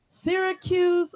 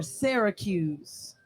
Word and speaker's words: Syracuse: Is it pronounced Syracuse or Syracuse? Wow. Yeah. I mean, almost like you're gonna say syrup, but like Syracuse.